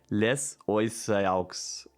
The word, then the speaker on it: les oiseaux: Because like in French, how would you pronounce this? Les oiseaux. But it's also with, I really like the French language as a result of the liaison.